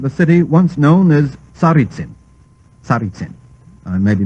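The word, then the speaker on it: Tsaritsin: present name of the city once known as saritsim maybe mispronouncing it it's t-s-a-r-i-t-s-i-n well I'm sorry gentlemen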